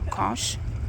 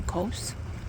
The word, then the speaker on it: Kos: Here is a side of the fortress and facing the island of Kos or Coos, how you want to pronounce it.